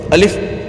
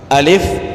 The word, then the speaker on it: الف: چیز ہوتی ہے کہ جب الف کو پڑھتے ہیں تو جھٹکا سے جو ہے اس کا مخرج ادا کرتے ہیں، اس کا تلفظ جو ہے وہ اس حروف کی ادائیگی کو جھٹکے سے پڑھتے ہیں. الف الف یہ کام نہیں کرنا. الف پیار سے، الف الف جلد بازی نہیں کرنی، جھٹکا نہیں لگانا حروف کی ادائیگی کے اندر.